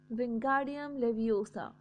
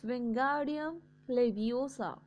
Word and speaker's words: Wingardium Leviosa: Wingardium Leviosa, he shouted, waving his long arms like a windmill. You are saying it wrong. Harry heard Hermione snap. It's Wingardium Leviosa. Make the guard nice and long.